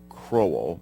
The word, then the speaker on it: Crowell: article, it's pronounced Colin Crowell. It does not rhyme with Colin Powell.